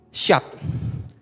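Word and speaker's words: שד: huruf Bapak Ibu Ya ini huruf Sinin dan dalet ini dibacanya adalah syat nah syat ini kata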